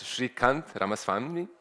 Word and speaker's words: Srikanth Ramaswamy: So let me introduce our next speaker, and I asked how to pronounce it correctly. It's Srikanth Ramaswamy, and he's the director of the Neural Circuits Laboratory at Newcastle University, and he's going to talk about neuromodulation.